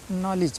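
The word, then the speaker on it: knowledge: हमेशा ध्यान रखना है एन से पहले अगर कहीं भी के आ जाता है तो के साइलेंट हो जाता है मुख हो जाता है उसका प्रोनाउंस हमको नहीं करना पड़ता है ठीक है यह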